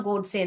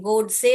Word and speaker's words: गोडसे: गई वो हत्या नथुराम गोड से नथुराम ऐसे पढ़िए ये स्पेलिंग न पढ़िए थू पढ़िए और राम पढ़िए नथु राम गोड से गॉड और से गोड से हो जाते है इसको गॉड से करके नहीं पढ़ते हैं गोड